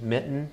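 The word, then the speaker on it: Myton: You might remember in an earlier slide there were proprietors named Mitten, or that's how I pronounce it, M-Y-T-O-N.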